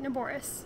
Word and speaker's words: Naboris: I can't wait to see you take Narboris back. Oh, good, I did pronounce it right, Narboris.